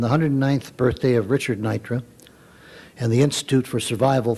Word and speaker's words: Neutra: here come forward please pronunciation is Nitra Nitra I'm sorry okay very